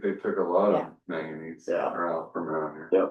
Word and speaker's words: manganese: Are they calling that maganese stuff? How do you say that? Maganese manganese.